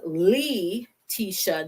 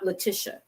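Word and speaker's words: Leteesha: l-e-e-t-e-e-s-a so i say l-e-e dash t-e-e because it's pronounced as lee tisha not leticia or not leticia okay is lee l-e-e dash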